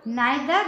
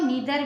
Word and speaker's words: neither: इस वीडियो में हम नाइदर नॉर के यूज से सेंटेंस बनाना सीखेंगे। आइए शुरू करते हैं। यूज ऑफ नाइदर नॉर, इसको नीदर भी इसका प्रोनाउंसिएशन होता है, नीदर भी पढ़ते हैं इसको, ठीक है।